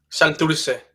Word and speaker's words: Santurce: Santurce? Is that how you say it? Santurce.